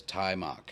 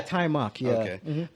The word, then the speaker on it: Taimak: so they hired uh i've heard his name be pronounced as tai mok yeah tai mak he was 19.